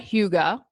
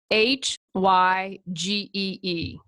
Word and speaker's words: hygge: pronounce, hygge is spelled Hygee. I would have never guessed that hygge is how you pronounce that. I would have said hygee.